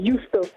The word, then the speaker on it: Y2OSTO: Et il s'appelle Yusto. Ça Oh. s'écrit Y2OSTO.